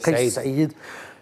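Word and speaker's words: Kaïs Saïed: On le prononce, c'est Saïd. Kais Saïd.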